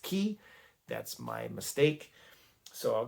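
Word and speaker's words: Cay: that looks like Fear K C a Y. I pronounced it K instead of key. And that commenter was 100% correct. It is pronounced key.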